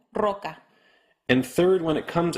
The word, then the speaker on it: roca: Second, when it comes at the beginning of a word. For example, roca.